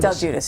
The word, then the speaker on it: Del Giudice: And I'm glad I didn't know how to pronounce that. Yes, Del Giudice. Del Giudice.